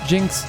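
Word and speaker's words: GN-X: GNX is also pronounced Jinx in double O. If you say gym fast enough, the gyms in the gym or GM fast enough in the gym, right?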